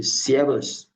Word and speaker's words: servus: It's servus. Servus, not just like the street way of pronouncing it, servus.